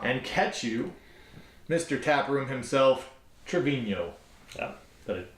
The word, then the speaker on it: Travino: TapRoom himself, Travino. Yeah, did I pronounce that right?